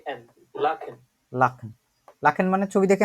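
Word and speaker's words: lachen: পাচ্ছি অমিত হাসান ভাইয়া এটা দেখেন তো এটা উচ্চারণ করে এই শব্দটা লাখেন এল আ সে হা এ এন লাখেন লাখন লাখেন মানে ছবি দেখে আমরা কি বুঝি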